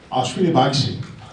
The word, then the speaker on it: Ashwini Bakshi: How do you pronounce his name? Ashwini Bakshi.